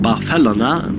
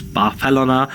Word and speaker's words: Barcelona: that after visiting Barcelona, which, by the way, is pronounced Barcelona by its denizens. Barcelona, not Barcelona, as you might think.